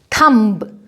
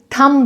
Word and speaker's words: thumb: थंब नहीं, थम बोलेंगे इसको। कोल्ड ड्रिंक है ना, थम्स अप, उसमें THUMBS और अप होता है, तो बी साइलेंट होगा और बनेगा थम्स up, test the thunder, right.